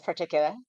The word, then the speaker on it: Particula: Yes, Particula.